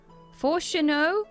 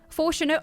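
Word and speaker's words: Fourchenault: Chat taught me how to say this. It's French. Forchenot. Look, I ate many baguettes in preparation for this expansion. Forchenot.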